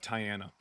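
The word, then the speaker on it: Tyana: of Tyiana.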